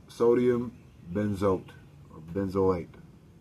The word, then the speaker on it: benzoate: This additive is called sodium benzoate, or benzoate. It's spelled B-E-N-Z-O-A-T-E.